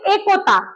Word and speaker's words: একতা: উচ্চারণ ভুল এ ক ত আকারে তা এইটার উচ্চারণ হবে একতা কি হবে একতা আমার সাথে বল একতা আচ্ছা